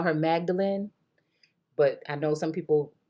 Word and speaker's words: Magdalene: I'm going to call her Magdalene, but I know some people pronounce it Magdalene.